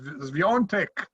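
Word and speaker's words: Świątek: Because apart from Kennen, Swiatek, as must be pronounced, I was told by a Polish colleague, and Podoroska, well, nobody expected them to be there.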